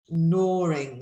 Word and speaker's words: gnawing: And also this word, we don't pronounce the G either. So we've got loads of pronunciation stuff happening in these sentences. So we've got gnats and gnawing.